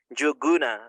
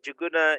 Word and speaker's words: Njuguna: who is jaguna ah as you rightly stated you actually pronounced my name very well joguna and uh so juguna is a Kenyan name I am from Kenya